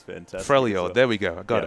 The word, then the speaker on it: Freljord: Freljord? We're really on top of our lore here. Pronunciation's fantastic. Freljord, there we go.